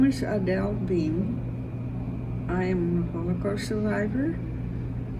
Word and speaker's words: Beim: Is it pronounced Beim or Beim? It's really Beim, but Beim. most people here say Beim, so we made it Beim. I like Adele Beim because that is how it's written, B-E-I-M.